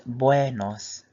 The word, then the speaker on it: buenos: So it's buenos.